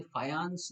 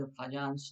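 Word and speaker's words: Fajans: ये पोलैंड के साइंटिस्ट थे, तो इसे फायांस इज द प्रॉपर प्रोनाउंसिएशन, लेकिन वी are Indians, Indian pronunciation is फजांस rule.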